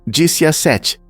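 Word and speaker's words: diciassette: Em italiano, 17 se pronuncia disse a sete, que pode ser rearranjado para formar a palavra VIX, que significa eu vivi.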